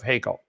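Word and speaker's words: Haeckel: attempts to whitewash the work and Legacy of hekel somebody said it's pronounced Heckle I don't care okay he's dead right I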